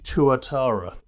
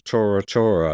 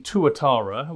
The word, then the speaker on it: Tuatara: heard of the ssc tuatara bless you yes exactly well i mispronounced it at first i thought it was torah torah i thought we were back to pearl harbor again oh careful well apparently